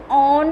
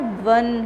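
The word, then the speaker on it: one: उसका pronunciation ऑन नहीं होता है बट क्या होता है? वन होता है ना.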